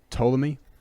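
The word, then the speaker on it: Ptolemy: from a guy named toy and just to give you an idea of how weird this guy is he spells his name with a silent P at the beginning so PT o l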